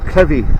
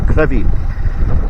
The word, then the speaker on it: Crovie: Now I will be parking up in Gardenstown and walking to a place called Crevy. It's actually spelled Crov, but it's pronounced Crevy.